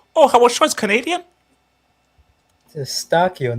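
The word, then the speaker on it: Eustáquio: Shout out Shane, Wayne Gretzky, Howard Shaw, Steven Ustakayo. Oh, Howard Shaw is Canadian? Eustachio, not Ustakayo.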